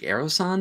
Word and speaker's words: Aerosonde: MK 4.8 HQ aerosan I think aerosan is how you say it aerosan drone designed for